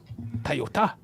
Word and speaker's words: Toyota: ] is a you to say it correctly my friend it is a Toyota toota to yeah CU it's actually off the guy's name t o y da but they americanize that because well got to make